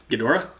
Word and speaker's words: Ghidorah: side at least we learned how to pronounce King G Hedra Ghidorah damn it whatever yeah so I'm